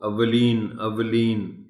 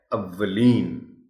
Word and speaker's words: اولین: خلوص ہے یہ لفظ۔ اولین واو پر شد کے ساتھ زبر ہے، اس شد کو نمایاں کر کے پڑھا جانا چاہیے۔ اس کو اولین کہنا غلط ہوگا۔ درست تلفظ اس لفظ کا ہے اولین۔ تیار عام استعمال ہونے